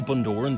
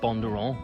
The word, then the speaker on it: Bundoran: Yeah, that's how it's pronounced. You say Bundoran, but yeah, we pronounce it Bondurant.